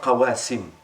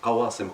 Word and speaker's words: قواصم: Beaucoup de gens ils prononcent ça qawasim. Non, qawasim, qasama.